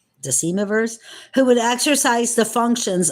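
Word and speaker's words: decemvirs: who would exercise the function I'm going to spell that for you all it's DEC e m v i RS deivers deivers who would exercise the functions of Chief magistrates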